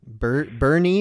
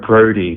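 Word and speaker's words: Brodie: man hey who's on my own this is brody do you got mine do you get my name bernie or birdy oh brody b-r-o-d-i-e b-r-o b-b-r-o oh brody okay brody that's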